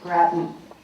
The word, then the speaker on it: Grattan: Our presenter this morning is Alejandro Grattan. I must confess that after 5 years, I have learned the correct way to say his name. It rhymes with Patton.